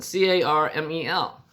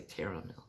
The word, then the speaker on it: caramel: the places it's a canust how do you pronounce and spell this one c-a-r-m-e-l carmel i know some people say caramel but it's caramel that's like footwear well when